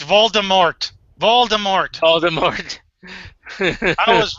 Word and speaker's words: Voldemort: And then finally J.K. Rowling said, no, it's Voldemort.